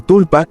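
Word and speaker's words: sprul pa: En lengua tibetana, la palabra original es sprulpa, pronunciado como tulpa, que significa emanación, manifestación mágica o forma ilusoria.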